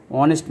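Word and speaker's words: honest: হবে mister Sen ইজ অনেস্ট man mister Sen একজন সৎ মানুষ তাহলে এন অনেস্ট হবে কারণ এইচ এর উচ্চারণ হচ্ছে না অনুচ্চারিত এইচ এর আগে এন বসে তাহলে এখানে অ্যান অনেস্ট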